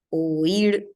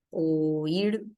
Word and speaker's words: oír: y es este caso oír es un caso de yato van en sílabas separadas Este sí tiene dos sílabas o ir así separ o ir